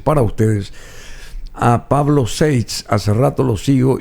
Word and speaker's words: Seitz: se debe de pronunciar, porque un apellido alemán, Seitz. Suena distinto, ¿verdad? Seitz. Ese es el nombre, si queremos cautivar a alguien que tiene un apellido alemán, entonces que se pronuncie como suena originalmente el apellido, Seitz.